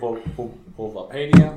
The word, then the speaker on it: Bulbapedia: And I like Bulbapedia. That's how you pronounce it.